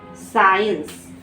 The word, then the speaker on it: science: SCIENCE, इसे देखो सी से पहले एस और सी के बाद आई, तो सी लेटर को साइलेंट करेंगे और हम इसे क्या पढ़ते हैं, साइंस।